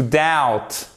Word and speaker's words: doubt: Même chose. Attention, le B. Et ça s'entend tout de suite. Vous imaginez, si vous mettez un B au milieu, ça change complètement la prononciation du mot. Et il y a de fortes chances d'ailleurs qu'un anglophone ne vous comprenne pas si vous prononcez avec un B. notamment quand il est en plein milieu du mot. À la fin du mot, ça passe un peu mieux,